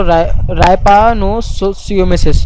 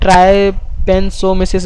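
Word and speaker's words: trypanosomiasis: रापन या कहे तो रायपा सिमेसिस ठीक है आप इसको अलग-अलग देखिए टीस में साइलेंट होता है जरूरी नहीं आप ट्राय पें सो मिसस बोले राय पें सो मिसस भी बोल सकते हैं डिपेंड करता है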